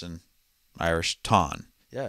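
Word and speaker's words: Táin: It is called, as us Americans would say it, the Tain, but pronounced in Irish Tain.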